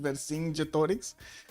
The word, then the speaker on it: Vercingetorix: Vercingetorix. Oh, that's how you pronounce it. Vercingetorix.